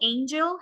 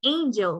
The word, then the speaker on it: angel: particular stress for example Angel has a stress on the first syllable and complete has a stress on the second syllable right example we say angel we don't say angel right and we say complete